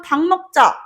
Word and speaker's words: 닭: 그런데 오늘 수업 끝나고 달 먹자 라고 얘기하면은 달을 어떻게 먹어? 일론 머스크가 와도 달은 못 사잖아. 그치? 그러니까 닭이라고 발음하는 게 맞죠?